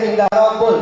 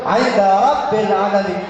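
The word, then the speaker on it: عند رب العالمين: Ada bacanya Inda Rabbul, yang betul Inda Rabbil Alamin.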